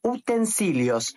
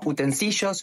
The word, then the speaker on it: utensilios: usas todos los días son los utensilios no utensillos no utensillos Por qué Porque se escribe así ya está la pronuncias